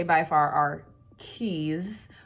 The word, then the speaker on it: Quay: say by far, are Keys, which to me look like Quay, and I can't stand that they pronounce them Keys. Let's be honest. It looks like Quay. Why would you not say Quay?